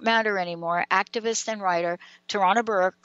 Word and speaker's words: Tarana Burke: Because I think Tarana, how do you say her name? Tarana Burke, right? Yeah, Tarana Burke.